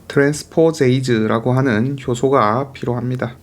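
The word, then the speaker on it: transposase: 얘들은 당연히 이게 이제 삽입될 때 트랜스포제이즈라고 하는 효소가 필요합니다. 자, 제가 앞에서 아마 트랜스포네이즈라고 발음했던 거 같은데 트랜스포제이즈입니다. S가 맞아요. 트랜스포존이기 때문에 끝에 여기서 끊어 가지고 H 붙이는 트랜스포제이즈가 맞습니다.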